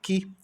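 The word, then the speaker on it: key: E chave, que. O K com o som de K, o E com o som de I. O Y é mudo.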